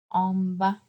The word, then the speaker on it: en bas: Bien sûr, on ne prononce pas le S à la fin. In class, I asked you to close the S, if you remember, right? I told you close the S. I don't pronounce it. I say en bas.